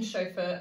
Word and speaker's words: chauffeur: that took them to the movie premiere the syllables in choker up show the sounds in shock though are the letters in chauffeur CH are you f f/a you are the